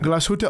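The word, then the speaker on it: Glashütte: And we're sitting in a taxi and I'm saying Glasshuta.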